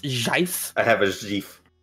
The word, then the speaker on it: GIF: Also, Sam, I have a GIF for you real quick. It's important. Give me... Never say GIF in my house ever again. It's pronounced JIF.